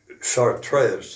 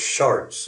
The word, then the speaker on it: Chartres: broke out across France at Chartres, they called it, but it was Chartres is the way it's spelled.